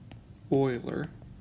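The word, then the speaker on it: Euler: is what we call Oiler identity note that this is pronounced Oiler spelled e u l e r and the the identity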